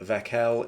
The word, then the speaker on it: Vekel: Now I will start by saying Vekel is how I pronounce it. You pronounce it however you want. I've heard Vekel, Vekel, anything. It really doesn't matter. It's absolutely fine.